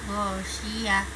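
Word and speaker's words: غاشية: Perlu diperhatikan huruf tak marbutoh atau tak bulat yang berhenti di akhir ayat ketika waqaf atau berhenti, maka berubah menjadi huruf H, jadi membacanya ghasyiyah.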